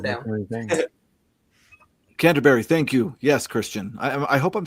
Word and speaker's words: Christian: Yes, Christian. I hope I'm saying your name right. Yeah, the Canterbury scene. I believe it's pronounced Christ.